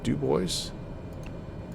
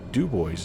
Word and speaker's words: Dubois: And then we are to Dubois. Dubois, I think is how they say it in Idaho. Dubois is how we say it in Wyoming because we're bad at French.